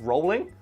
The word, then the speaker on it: Rowling: if you're max commotion actually it's pronounced rolling its ones like you